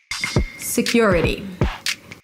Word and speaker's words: security: Security. Security. Primary stress is on the second syllable.